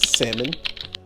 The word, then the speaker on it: salmon: my salmon here and i said it right salmon uh even though it has a l and it should be salmon right here i cut